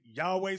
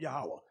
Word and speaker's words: Yahweh: there is uh they may say some say Yahweh some say Yahoo I was taught Yahweh that's how to pronounce it now you see the symbols these